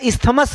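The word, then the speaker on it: isthmus: एन इस्मस, एन इस्मस इसका इस्थमस है, लेकिन प्रोनाउंसिएशन इस्मस ही होता है, जो मतलब ये इसका आंसर है, इसका यूराल्स आंसर है।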